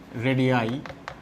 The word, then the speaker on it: radii: Atomic and ionic রেডিয়াই, উচ্চারণটা রেডিয়াই, RADII। রেডিয়াই হচ্ছে রেডিয়াসের plural form.